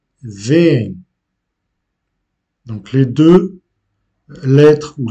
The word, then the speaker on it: veem: Mais à l'oral, l'accentuation est faite quand même. Donc, on prononce vem.